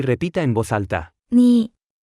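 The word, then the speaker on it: 你: repita en voz alta ni ni ni ni ni ni ni se pronuncia con el tercer tono la palabra ni es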